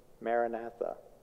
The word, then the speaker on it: Maranatha: example of a mantra is Maranatha four syllables four syllables works well Maranatha come lowered breathing